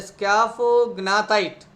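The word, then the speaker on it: scaphognathite: the opening of gill chamber, that is a scaphognatite. All of you spell it, read it, pronunciate it. What is that? Scaphognatite.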